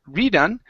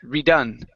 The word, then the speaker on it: redone: The stress is on the end of the word. Instead of redone, it's redone. Redone.